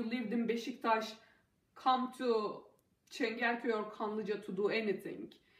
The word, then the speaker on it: Çengelköy: It's called Çengelköy, and this is how it's spelled.